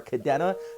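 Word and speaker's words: Kadena: do speak Japanese so when I pronounce stuff like Okinawa or Cadena that is the proper way to say it guys uh and get a lot of Americans saying or pronouncing it wrong it's like um so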